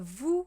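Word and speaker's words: vous: uh us but like the true us uh Vu which is you if you are being either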